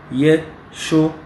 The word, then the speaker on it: Yeshua: Translittération c'est Yeshua. Et en phonétique, c'est 3 syllabes. 3 syllabes. Yeshua. Contre 4 syllabes dans le hébreu. 4 syllabes en hébreu.